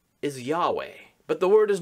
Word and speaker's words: Yahweh: it really is a nonsense word the hebrew pronunciation is yahweh but the word is not read that way